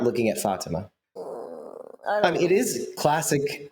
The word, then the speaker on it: Fatima: And that friend is Fatima. Is that better? They said it that way. Why do you want to call her Fatima? I don't understand. That's not how you say it. Fatima.